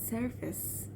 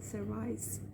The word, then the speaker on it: surface: And he was so disappointed at that point, and was like, Miss Azade, it's surface. Because to that point, to that day, I was pronouncing it as service.